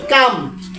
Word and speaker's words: calm: আছে, আপনারা দেখতেছেন CALM, কাম। এটা কাল না হয়ে কাম কেন হলো? কোন শব্দের শেষে যদি KFM থাকে, তার আগের লেটার যদি এল হয়, তখন এল সাইলেন্ট হয়ে যায়, যথা কাম।